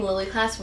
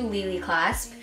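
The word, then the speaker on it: Lili Claspe: choker at Lely clasp I have been pronouncing ly clasp wrong this entire time it's actually ly clasp and I got this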